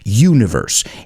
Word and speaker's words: universe: Unknown, desconocido, universe. And I want you to pronounce that word aloud because it's not universe, it's universe, university, community. It sounds like you. Tú in Spanish.